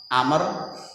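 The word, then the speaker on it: عمرو: Ini dari Atta, kemudian Utsman, kemudian Amr, bukan Umar ya, Amr. Ini kalau bedanya kalau Umar niku ain mim ro, tapi kalau Amr tambah wawu belakangnya. Kalau ain mim ro wawu bacanya bukan Umar, Amr. Kalau nggak ada wawunya ain mim ro Umar, itu Bapak Ibu.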